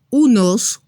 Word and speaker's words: un: En español decimos un, una, unos, unas. En francés es así. Para un se dice un. Se escribe de la misma manera, pero se pronuncia diferente.